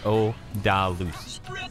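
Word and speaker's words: Odallus: It's spelled O-D-A-U-L-L... Sorry, O-D-A-L-L-U-S. Odalus, basically.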